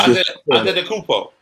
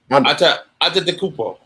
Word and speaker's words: Antetokounmpo: Yeah, I can't pronounce that. Thomas. Antetokounmpo. Yep. It's all in the tongue. Antetokounmpo.